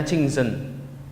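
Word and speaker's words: 清真: Ini bacanya Qingzhen.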